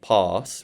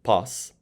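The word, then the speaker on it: πᾶς: The circumflex guarantees that it's a long alpha. In particular, it would also indicate a rising and falling pitch, but I am not pronouncing that. So I'm just pronouncing it as a long alpha, since a circumflex guarantees that a vowel is long. Anyway, having explained that about why I'm saying pass rather than pās, let me explain how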